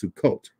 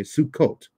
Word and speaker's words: Sukkot: purpose of the festival the Hebrew pronunciation so called is Sukkot okay Sukkot but it's often pronounced